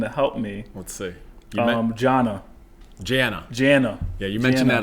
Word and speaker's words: Jah: And then most people pronounce it Javil, but it's actually Ja.